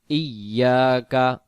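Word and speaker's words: إِيَّاكَ: হ্যাঁ, ইয়াকা, ইয়াকা উচ্চারণ হামজা ইয়াজের এই, ইয়া আলিফ জবর ইয়া, এক আলিফ, ইয়া কাফ জবর কা, ইয়াকা নুন আইন জবর না, না, না।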